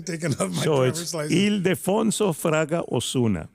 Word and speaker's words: Ildefonso: Is it Ildefonso Fraga Ozuna? Did I pronounce that right? No, it's Ildefonso.